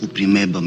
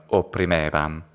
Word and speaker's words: opprimebam: Rebelliones upprimebam in ac statione remota 11 annus. Upprimeb. And then when he says upprimebam, his O is so close, it sounds like upprimebam instead of opprimebam.